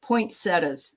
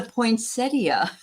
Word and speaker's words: poinsettia: never a fan of I'm going to say how I used to say it, poinsettas. And that's not how you say it. all this time of It's a poinsettia.